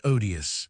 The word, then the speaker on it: odious: At home, I had always heard the first syllable of this word pronounced with a long o like ode, but m and mme. Swan made it short as in odd.